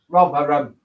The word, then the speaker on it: Rotherham: Rotherham. Not Rotherham, Rotherham. Rother.